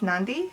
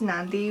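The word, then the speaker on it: Nadi: was two weeks essentially we arrived so it's pronounced Nandi there's an end right here so it's pronounced Nandi we arrived in Nandi after we left Tokyo we arrived at Smuggler's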